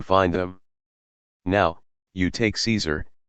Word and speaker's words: Caesar: them now you take Caesar it's Latin in Latin it's pronounced like Kaiser with a hard C but we anglicize it